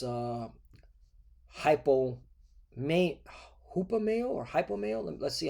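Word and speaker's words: ὑπομένω: Strong's G5278 hupomeno hupomeno Hupomeno, okay. So it's it's it's pronounced differently than it is here. Cuz you would think it would be hypo, you know? But no, it's hupomeno, right?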